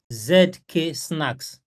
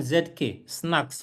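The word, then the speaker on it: zk-SNARKs: This privacy layer is powered by something called ZK Snacks.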